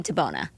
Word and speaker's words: Di Bona: I have and I'm gonna pronounce it Whitney Tabona.